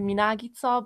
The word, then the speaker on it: Minagica: In Hungarian, it would be Minagica, but of course, everyone